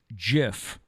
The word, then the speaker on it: GIF: It's pronounced GIF. Not GIF. It is not a GIF. Apparently, the creator came out and said that it's GIF.